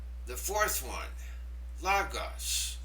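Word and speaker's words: λόγος: The fourth one, Logos. Logos. There's an accent over the omicron. That means that syllable gets the stress.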